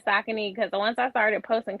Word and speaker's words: Saucony: So for me, I started saying Saucony because once I started posting content and I'm tagging them, I'm like, let me say it correctly.